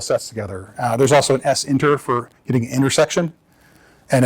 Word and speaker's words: SINTER: And s inter is sinter, of course.